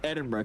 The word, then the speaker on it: Edinburgh: Is it Edinburgh or Eden? I thought it was Edinburgh. It's Edinburgh cuz Yohan was yelling at me to pronounce it right.